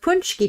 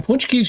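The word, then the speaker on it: pączki: Well, and here we also call it Punchki Day.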